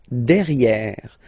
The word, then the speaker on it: derrière: Derrière. So if you look carefully, you've got E here and then double R, so it will open the sound of this E, and you should pronounce it E.